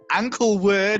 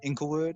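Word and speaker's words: Inglewood: habit um include wood or as i as i pronounce it the first time to you ankle wood so yeah d smoke he's a rapper he's like 35 uh he's from inklewood about eight miles aside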